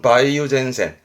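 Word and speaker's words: 梅雨前線: 써요 매우 전 작으니까 우리말로 뭐랄까 장마전선이죠 장마전선 발음은 바이오젠센 바이오젠센 그런데이 장마를 할 말이 좀 더 있어요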